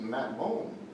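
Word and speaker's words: מַטְמוֹן: It's pronounced Matmon.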